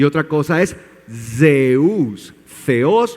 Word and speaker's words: Zeus: a su Dios Zeus Sí y Zeus se pronuncia en en griego se dice Zeus Zeus Sí en griego y por qué hago